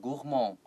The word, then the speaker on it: gourmand: The Bib Gourmand is the Michelin guide for everyone.OK, 所以在这个地方主题呢，我们会看到那个 Gourmand，老师刚刚提到这个 Gourmand，在法文里面它是念 Gourmand，然后那个 D 的话是不发音的，什么意思呢？就是指那种吃很多的那种饕客，很爱吃吃很多的那种吃货，你可以用 Gourmand 这个字来表达。